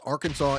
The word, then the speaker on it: Arkansas: So, it's Kan it's Ar It's Arkansas and it's Kansas. All right, the SAS is pronounced I don't know why, but it's pronounced SAW.